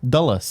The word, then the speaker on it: Dulles: They continue listing airports that you only know if you've ever flown into the Washington Dulles area. Is that how you pronounce it? Yeah. Dulles.